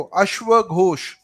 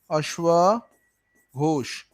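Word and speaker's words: अश्वघोष: अच्छा एक सेकंड, इसका नाम प्रोनाउंस कर दूं, इस वाले का, चेयरमैन सेकंड को, इसको अश्व घोष। थोड़ा मैं जल्दबाजी में लिख रहा हूँ ना, अश्व घोष।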